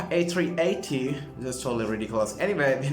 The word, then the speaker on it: A380: they have their pro they pronounce it as m380 rather than pronouncing it as uh a380 that's totally ridiculous anyway